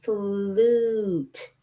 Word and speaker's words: flute: So we know the word flute, and this letter here doesn't make a long U sound. It makes an oo sound, flute. Even though it is a UE, it has an oo sound like in the word flu, which is another way